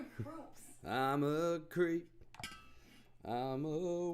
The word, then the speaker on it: Krups: Is it Krups? Is that how you say it? Yeah. Creeps. No, groups.